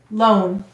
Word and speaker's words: lone: And why do we have a silent final E in lone? The vowel says its long sound because of the E. Let's read it. L-O-N, lone.